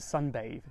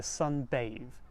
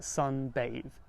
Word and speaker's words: sunbathe: The word bath, when it becomes a noun* (I meant to say "verb") we add an E to the end and it's pronounced with a long vowel like 'bathe'.